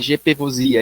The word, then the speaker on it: GPVosia: Então, o senhor coordena um grupo de pesquisa em voz, chama-se GPVosia, é isso? A pronúncia está certa? Tá certo.